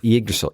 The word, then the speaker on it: Yggdrasil: Yggdrasil is a hard word to say. Yeah, you got to not pronounce the Y, but also acknowledge it. Yggdrasil, yeah.